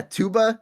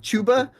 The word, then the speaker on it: Chuba: I'm saying you pronounce TU. Yeah, Tuba, Chuba. Why is it Chuba?